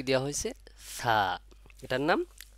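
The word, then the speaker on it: ث: এর মাখরাজটা কি হচ্ছে জিহ্বার আগা উপরে দুই দাঁতের আগার সঙ্গে লাগাইয়া ছা উচ্চারণ হয় এই জিনিসটা মাথায় রাখবেন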